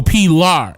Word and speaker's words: Pilar: So Pilar is how you pronounce it.